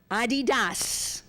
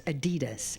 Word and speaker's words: Adidas: we won big with Adidas some of you might know it as Adidas it is now Adidas did I say it correctly we are an international City we can use it either way foreign they agreed as